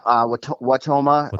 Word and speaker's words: Wautoma: Is that how you pronounce it? Yeah, Wautoma.